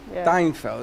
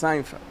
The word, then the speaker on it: Seinfeld: his name seinfeld yes it's nice steinfeld it's seinfeld yeah there's no tea in it yeah okay well